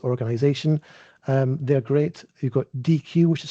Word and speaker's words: Deque: You've got DQ, which is spelled DEQUE.